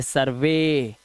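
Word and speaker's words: survey: ई वाई आए तो ई वाई का उच्चारण ए से करना है, जैसे सर्वे।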